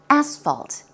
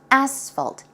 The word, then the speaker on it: asphalt: Asphalt. It's a very strong S sound. S. Asphalt.